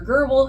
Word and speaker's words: GRBL: And the software that I'm using is called Laser GRBL or Laser Gerbil, however you want to pronounce it.